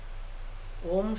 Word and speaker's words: ওম: আচ্ছা, ওম শব্দে মোট কতগুলি অক্ষর আছে কি বলতে পারবেন? 3টি অক্ষর আছে, অ উ ম। এবার আমরা 3টি অক্ষর, এই 3টি অক্ষর কোন কোন অংশ দিয়ে উচ্চারণ করব? অটা করবো নাভির কাছ থেকে, হ্যাঁ, ওটা হৃদয়ে, আর মটা কণ্ঠে। মটা কোথায়? কণ্ঠে বিশুদ্ধ চক্ষে। না, মটা কণ্ঠে না, মটা হচ্ছে ওষ্ঠে, একেবারে, ওষ্ঠে, মটা শিরোশি, ওষ্ঠে।